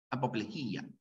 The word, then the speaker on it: apoplejía: correctas y a salvo la palabra apoplejía que solo se pronuncia Así apoplejía cuando una palabra termina